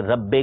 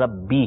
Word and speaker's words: ربی: میں نہیں پڑھیں گے, اس کو امالہ کرنا کہتے ہیں کہ ربے کر کے پڑھیں, یہ نہیں پڑھا جائے گا. عربی تلفظ ربی ہے. اسی طرح پیش آئے گا تو اس میں جیسے نو رو تو وہ نو رو نہیں پڑھیں گے, غفار رو پڑھیں گے, غفار رو نہیں پڑھیں گے. ٹھیک ہے, تو صحیح تلفظ جو ہے وہ ہے سبحان ربی العظیم, سبحان ربی الاعلی. صحیح, ربی ہے, ربے نہیں ہے.